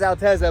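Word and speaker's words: Altezza: check out this Toyota altea or alteza I don't know how it's pron how is it pronounced alteza fipe says it's alteza but look at this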